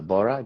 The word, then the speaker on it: Bora: It's it's uh Bora B O R A.